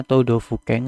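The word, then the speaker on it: 都道府県: Hai minasang, untuk kanji yang nomor 9 yaitu contoh kalimatnya Todofuken, hati-hati do-nya di sini panjang, lainnya pendek semua.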